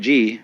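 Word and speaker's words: 事: The word Ji, which is Japanese way of pronouncing the Chinese Chur, is the world of things and events.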